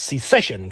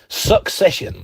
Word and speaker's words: secession: uh a few years and in by the way Victor Davis Hansen can't even pronounce secession correctly succession.